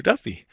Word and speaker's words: Duthie: Eastern Time we've got G Andrew Duffy I bet I didn't get to pronounce that is it Duffy or Duthie I